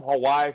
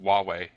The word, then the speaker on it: Huawei: 29th two new Google Nexus phones one from Hawaii from China and one from LG the next five I hate I hate to interrupt you there CJ but it's pronounced Huawei and take it from me who's actually worked